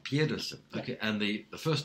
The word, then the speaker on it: Pedersen: I pronounce it Pedersen when I'm in Sweden. Yeah. Pedersen.